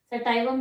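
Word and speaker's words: sativum: सेटाइवम भी बोलते हैं, सेटिवम भी बोलते हैं, आप अपना देख लेना प्रोनाउंसिएशन क्या करना है।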